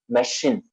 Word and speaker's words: machine: It has in the middle. It says machine. Machine. All right? Machine. Fine. Look at the pronunciation now. The first for cherry is ch. The second is k. Character. The third one is sh.